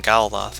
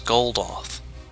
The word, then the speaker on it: Goldoth: Said that name wrong the whole time. I called him Galdoth. His name was Goldoth.